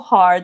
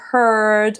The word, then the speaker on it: heart: La pronunciación, por si acaso, heart, not como hurt o algo así, no.